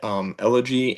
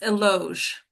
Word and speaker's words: Eloge: Elegy and Mark. Mark, it's Eloge.